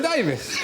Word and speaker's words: Davies: Doesn't really rhyme with anything apart from Mavis. Unless you know someone called Mavis. Yes. It's Alan Davies.